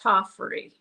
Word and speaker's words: Tofferi: nobody says it correct it's a Finnish name it's a weird Finnish name is pronounced tofy all right take care